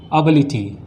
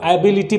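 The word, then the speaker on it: ability: Second one इज़ एबिलिटी। लोग इसको एबिलिटी पढ़ते हैं। इसका जो उच्चारण है वो क्या है? एबिलिटी।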